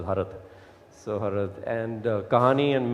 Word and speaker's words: Harud: Yeah, commonly known as Harud, but I'm from Kashmir. I think it's pronounced as Harad.